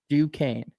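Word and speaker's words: Duquesne: You should have him spell it. D U S Q U N E. Dukane.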